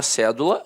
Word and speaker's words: cédula: E aí a palavra cédula notoriamente é uma proparoxítona a sílaba tônica está na antepenúltima sílaba aí ele pede para